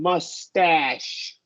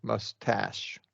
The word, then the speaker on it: mustache: Because it's the A and then SH. The only exception is going to be if there's a W before the A. Then we're going to go with a lax sound. But more often, there might be some other exam. More often than not, it's going to be a wide A sound.